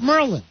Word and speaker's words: Maryland: They call it Merlin. Right. We live in Merlin.